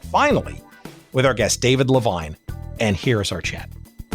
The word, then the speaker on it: Levine: my name is David Levine rhymes with fine wine I am a writer